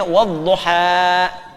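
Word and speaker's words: والضحى: Tapi alif tidak menerima apa? Harakat. Karena itu dibacanya wadduha. Paham?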